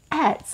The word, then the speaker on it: ADS: Agency, like ads, like advertising, the ADS Agency. It's a lovely double entendre for my name, D. but it also spells ads, like advertising, but you say it like ADS, the ADS Agency, please.